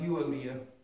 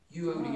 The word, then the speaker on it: Euodia: Well, I've always heard it pronounced Euodia, kind of like the EU, like a eulogy, EU, yeah. Euodia.